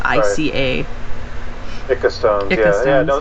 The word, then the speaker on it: Ica: Eike Eike stones yeah I always want to pronounce them Incan and Inca and there's no end in that word it's just I ca pick a stone yes